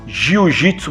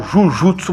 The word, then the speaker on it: Jujutsu: E ele quis criar o Jujutsu brasileiro. No entanto, os japoneses aqui no Ocidente pronunciavam a palavra Jujutsu de uma maneira que dava a entender aos ocidentais que era Jiu-Jitsu que eles estavam falando,